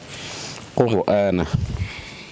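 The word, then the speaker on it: قرآنا: Qur'ana. So we stopped in the ra, and the ra will be pronounced full mouth. Why? Because it is preceded by a dhamma.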